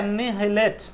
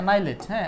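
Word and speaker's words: annihilate: চলে আসছি 19 হচ্ছে এনহেলেট এনহেলেট কথাটার মানে কি এনাইলেট এটা উচ্চারণ হচ্ছে এনাইলেট নাইলেট নাইলেট নাইলেট এন্টোনিম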